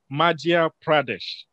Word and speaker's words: Madhya Pradesh: Pooja, who is coming from, who lives in Madhya Pradesh. Is that correct? Did I pronounce well?